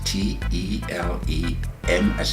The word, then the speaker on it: Telema: It's spelled T-E-L-E-M as in Mary, A, Telema.